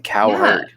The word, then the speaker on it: Cowherd: go coward as well does anyone else realize his last name is literally like coward he chooses to pronounce it like that too you could pronounce in cowherd yeah i'm gonna go